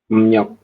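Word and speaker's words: 음력: ini juga sama ya tulisannya emriok tapi teman-teman nanti bacanya bukan emriok bacanya gimana sem menjadi emnyok Iya emnyok seperti ini ya jadi dibahasanya emnyok tulisannya emriok nah mereka agak kesulitan buat ngomong R itu makanya perubahannya jadi n seperti itu ya untuk poin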